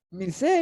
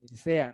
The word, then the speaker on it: Mircea: Que siempre da las ganas de pronunciarle Mircea, ¿no? Mircea Eliade. Pero no es.